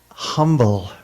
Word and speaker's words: Humble: it Temple Beth Torah of Humble Texas with a silent h but the address is